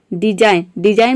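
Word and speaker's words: design: तो साइन में आप देख रहे हैं कि जी के बाद एन आ रहा है, तो यहाँ पे जी साइलेंट रहता है। डिजाइन मीन्स होता है रचना।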